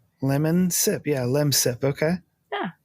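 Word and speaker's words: Lemsip: It's like lem sip. Like lemon and then sip. Lemon sip.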